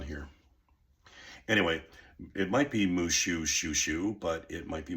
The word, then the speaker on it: Mushhushushu: I've looked at it how it breaks down phonetically and um uh and uh and I think it's mushu mush hush.